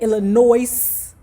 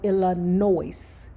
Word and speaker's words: Illinois: and said No Name the S is silent so I apologize to the People by saying Chicago Illinois in Chicago Illinois forgive me I sent